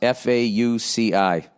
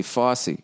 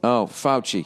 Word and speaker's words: Fauci: Nia, how do you pronounce Fauci? Fauci. Fauci? Dr. Fauci? Oh, I was going to say Fossey.